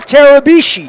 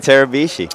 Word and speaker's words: Tarabishi: Tarabishi is here. I'm here. Rhymes with Mitsubishi. Mitsubishi Tarabishi.